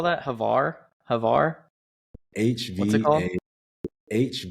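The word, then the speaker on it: Hvar: if you can this summer take her to havar take her to split in Croatia if you can make the trip you should definitely take her to havar I I I promise you she will how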